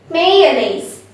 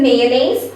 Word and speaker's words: mayonnaise: a i s e actually it's pronounced nays not nice okay nays may your names may yeah mayonnaise let's take an example could you please spread some mayonnaise on my bread okay